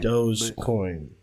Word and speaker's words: Dogecoin: Dogecoin. That's how you say it. It's Dogecoin. It's pronounced D-O-H-J. Like that's the actual pronunciation.